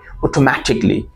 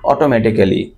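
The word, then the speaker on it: automatically: অটোমেটিক spelling for ইউটি অটোমেটিকলি অটোমেটিক অটোমেটিক আমরা বা সাধারণত মানুষরা এটাকে মিসপ্রোনাউন্স করতো কিভাবে লাইক তারা বলতো যে অটোমেটিক্যালি অটোমেটিক্যালি নট অটোমেটিকলি আর এটা অয় অটোমেটিকলি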